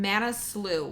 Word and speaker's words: Manaslu: I'm going to look at the word so I can pronounce it correctly. It's on Manaslu, which is the 8th highest peak in the